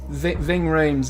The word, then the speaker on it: Ving Rhames: Yeah, so Ving Rhames, it's a Congrats. very strange pronunciation, but we're one apiece.